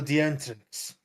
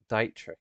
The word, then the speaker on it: Dietrich: It's spelled like that. Dietrich, it's pronounced.